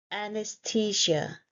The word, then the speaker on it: anesthesia: This word confuses many English learners, and the word is anesthesia. It's a four-syllable word.